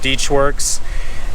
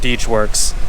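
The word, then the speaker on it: DeatschWerks: So I just plugged these in to make it plug and play with the fuel rails from Deechworks, and that's how you pronounce it, by the way, Deechworks.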